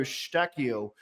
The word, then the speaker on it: Eustáquio: Likely or unlikely, he'll be playing for Mauro Eustáquio next season. Good pronunciation, man. Portuguese.